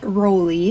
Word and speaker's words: Raleigh: as a standalone name Raleigh it was used five times this could alternatively be pronounced rolly and this is another one